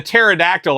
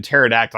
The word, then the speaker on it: pterodactyl: I just didn't understand this P in pterodactyl. I don't like this silent P business, and we got that with Terry as well, with a Perry.